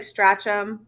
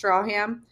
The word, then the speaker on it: Stracham: Looks like Stracham, pronounced Strawham.